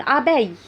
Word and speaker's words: abeille: بعد كده عندي نحلة une abeille. نحلة une abeille. une abeille. A B E I L L E، وهنا ال L L E مش بيتنطقوا.